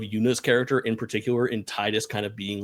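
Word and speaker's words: Tidus: time is of course say it correctly Final Fantasy 10 Titus and Yuna I'm a Titus truther I will not call him tetus um one of the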